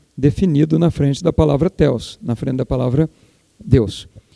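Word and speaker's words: θεός: Ou theos, mas no grego, né, a pronúncia é na oxítona, theos, né?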